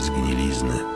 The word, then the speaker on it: zgnilizny: Spod tej zgnilizny wypełza mrok. Spod tej gnilizny wypełza mrok. Zgnilizny. Zakcentuj z. Zgnilizny.